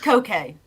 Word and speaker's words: Koke: To be fair, It's just Koke. Literally just Koke.